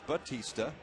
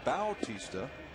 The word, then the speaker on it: Bautista: and it's a strike you've often seen that name pronounced Batista but Jose prefers the pronunciation Bautista and that's why we